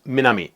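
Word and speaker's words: 南: For example, you can learn that this character, meaning south, is pronounced minami, and this character, meaning north, is pronounced kita.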